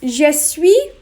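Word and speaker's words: je suis: i would say now i'm going to ask you to repeat jesui and then say her name jesus someone was to ask you to come on you would respond with jesus your name i would say just just sweet is one of the easier ones i think to pronounce because it rolls off more naturally in france they combine these words to shui but we won't do that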